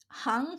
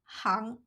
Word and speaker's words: 行: Since it refers to trades or professions, the pronunciation of this Chinese character is hang.